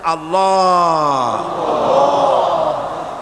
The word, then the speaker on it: আল্লাহ: আল্লাহ পাকের উচ্চারণটা হচ্ছে, আল্লাহ পাকের নামের উচ্চারণ হচ্ছে আল্লাহ। মুখটা একটু গোল হয়ে যাবে, বলেন আল্লাহ আল্লাহ।